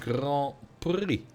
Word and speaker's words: Grand Prix: Pyramid Grand Prix. There we go. Very useful to have 2 words where you don't pronounce the last letter.